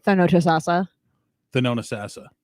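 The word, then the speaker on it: Thonotosassa: All right, Thanotasasa. The known assassin. Thanotasasa. Say it like you're saying the known assassin.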